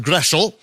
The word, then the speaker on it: Groeschel: For example, my name, Groeschel, it's actually a German name. It should be pronounced Groeschel.